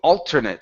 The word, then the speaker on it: alternate: uh let's go to alternate so the stress is at the very beginning instead of alternate it's alternate